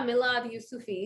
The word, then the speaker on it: Milad Yousufi: I'm not sure how to pronounce it. Milad Yusufi, is that it? Oh yeah, Milad Yusufi.